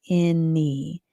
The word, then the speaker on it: any: This a has the a sound a in this word. N n has the n sound. And the y has the e sound in this word, any. Any.